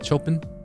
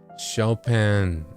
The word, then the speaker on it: Chopin: I'm also a little I haven't pronounced Is it Chopen? I'm I'm a little embarrassed to pronounce the name wrong cuz I've only read it. No, I figured. Shopen. Oh, Shopen. Okay.